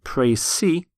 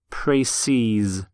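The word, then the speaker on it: précis: in facts about exactly the same but it's pronounced Tracy's so you have won praise see and to pray sees for example a precis of the manuscript was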